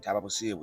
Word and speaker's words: Thaba Bosiu: still We are within district how do you pronounce. this place name Thabo Thabo tahbu bosiu yeah it is a national heritage is a